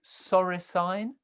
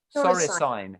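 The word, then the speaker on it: soricine: came across a word i think you pronounce it sorry sign s o r i c i n e as in you know like equine bovine feline signs i said oh right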